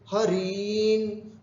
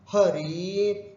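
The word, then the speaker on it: हरीन्: बहुवचन में भी है हरीन। उच्चारण भी हमको वैसे ही करना है, हरीन, हरिन, हरिन बोल दिया तो गलत हो जाएगा, हरीन इति।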